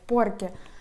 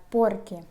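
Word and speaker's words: porque: легкий і так далі порке - це тому що коли ми пояснюємо Да в нас щось запитали А ми пояснюємо цю причину І кажемо порки До речі тут уважно наголос на перший склад порки наприклад я вчу іспанську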